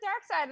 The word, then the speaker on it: Darkseid: squished it around because remember it's spelled like dark seed yeah yeah but it's still it's dark side so i'm gonna get